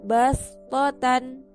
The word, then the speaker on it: بسطة: Di dalam ayat ini terdapat bacaan bastotan. Nah, di situ ditulis dengan huruf shad dan di atasnya ada sin kecil. Nah, cara bacanya menggunakan sin. Bastotan. Meskipun di situ ditulis huruf shad.